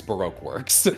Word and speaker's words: Baroque Works: they do that and they're wrong it's Baroque works yeah like like how you'd say those two words in that order um yeah but yeah